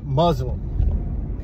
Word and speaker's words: Muslim: So the word Muzlum is in the dictionary. And I don't even need to go look, but I'll post it above me. And as you'll see, it says Muzlum.